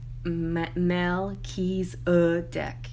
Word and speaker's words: Melchizedek: melchizedek has to say melchizedek is mel keys a deck i'm pronouncing it correctly and you know why